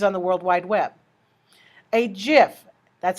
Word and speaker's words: GIF: the worldwide web a gif that's how you pronounce it just like the peanut butter with a hard G